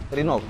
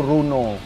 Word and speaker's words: Renault: Renault. Renault. Kurang tepat juga bro. Gue kemarin sempat nge-review mobil ini kan, sempat dia ngeluarin yang Triber. Nah menurut orang Indonesia dibacanya tuh Runo. Oh. Yang benar itu.